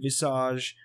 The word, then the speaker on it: visage: Jimbo Steve says it's very pretentious to pronounce that word in the French way. Visage?